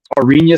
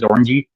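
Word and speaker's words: Oranje: the get together it it's spelled like or o r a n j e Suns looks like it says orangey but it's ARA um actually he's winning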